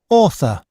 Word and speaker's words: author: А читается как оффер какой-то вообще. И Yeah. там ф. Author. Это th. Межзубный звук вот этот у нас здесь, да. Author. И начало, смотрите, оно читается как О, как в слове август. Август — это August. Буковки первые две A, U дают О.